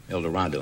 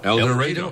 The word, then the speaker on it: El Dorado: El Dorado. No, El Dorado. Oh, boy. Pronounced with long A.